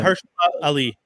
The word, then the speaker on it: Mahershala Ali: Oh man, I always brutalize his Mahershala Ali. Is that how you say it? Yeah. Mahershala Ali.